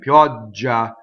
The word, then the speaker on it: pioggia: Pioggia, right? Pioggia, open O, double G. Pioggia.